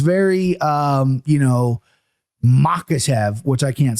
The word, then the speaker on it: Makhachev: Now, you know in your head that it's just emphasizing the second syllable. Sure. But people just want to go Makhachev, right? Right. And it's Makhachev, right? Makhachev.